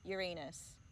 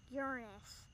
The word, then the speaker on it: Uranus: the planets the neem how do you say Uranus Uranus that's how they taught you to say it in school yes say it again Uranus Cleo taught me